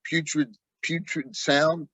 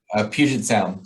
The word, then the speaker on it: Puget Sound: How far are you from putrid sound? Puted? What do you say? How do you say? Puget Sound.